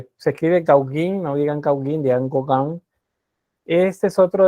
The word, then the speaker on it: Gauguin: Bien, vamos entonces, Paul Gauguin, se escribe Gauguin, no digan Gauguin, digan Gauguin.